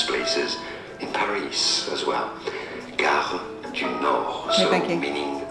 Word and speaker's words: Gare du Nord: Gare du Nord, Okay, so thank you. meaning the train station of the north. Got it. Because it goes to northern. Gare du Nord.